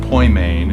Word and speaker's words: Poimen: we picked the name ployment ministries which is pronounced Point main and Greek because it's the word for Shepherd